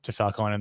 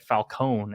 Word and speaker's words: Falcone: they kept pronouncing it falcone instead of falcone yeah i was like he's italian right so you'd pronounce the e at the end but i think it